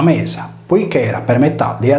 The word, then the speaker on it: Media: Medusa era omonima di Medea, scritta Media e pronunciata Mesa, poiché era per metà dea della luna e per metà dea della terra.